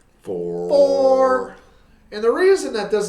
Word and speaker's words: XFORE: So 4 is spelled FORE, like as in golf, like four.